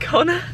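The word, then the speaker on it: Connagh: in G-O-N-N-E-R, like it was like Connor, but pronounced Connor.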